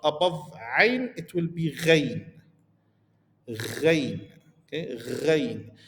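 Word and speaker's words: غين: ayn, it will be ghain. Ghain. Okay, ghain. Similar to the majorities of using on R sounds in French.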